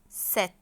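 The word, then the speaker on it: sept: طب رقم 7 خلي بالك بقى انا هنطقه ازاي، وفي حرف مش هيتنطق اسمه ست. اسموش ست، ماشي؟ اسمه ست. البي مين اللي متنطقش؟ البي متنطقتش، البي سايلنت، اسمها ست.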